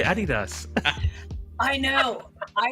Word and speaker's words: Adidas: like yeah Adidas yeah Europeans pronounce it the German Way Adas you guys are you